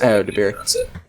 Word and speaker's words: Ayo Edebiri: I think Rachel Sennett and Ayo Edebiri, if I'm pronouncing that correct. Ayo Edebiri is Ayo Edebiri.